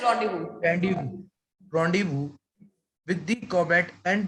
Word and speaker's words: rendezvous: November 15, Randy was with the comet नीचे लिखा हुआ है, just see the, yes, see here, pronounced as rendezvous.